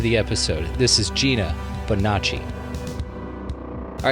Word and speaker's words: Bonacci: let's get to the episode this is gina bonacci all right ladies and gentlemen a very special episode welcoming to the show it is gina bonacci i nailed it right yes okay great great